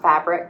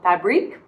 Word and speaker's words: Fabrique: We are wearing a sweater from Fabrique, and then I'm pretty sure it's not pronounced fabric because it's Fabrik with a little accent, so Fabrique.